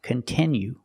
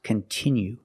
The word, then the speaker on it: continue: content that you like it's not pronounced continue it's pronounced continue we have to use the short sound e like this is we have the letter i which makes the sound e and it's a stressed syllable continue we cannot change